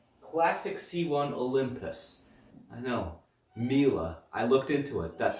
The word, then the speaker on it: Miele: at a Miele classic c1 Olympus I know Miele I looked into it that's how you pronounce it it's a bit strange I have